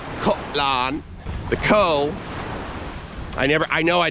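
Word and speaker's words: Koh Larn: of us will call Kolarn. The Thai pronunciation of it is different. It's a little softer than that. It's more like Kolan.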